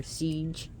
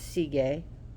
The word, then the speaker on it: Sige: anyways let's get to it Siege some people pronounce her Siege see but it's seagay her name is silence she is inner wisdom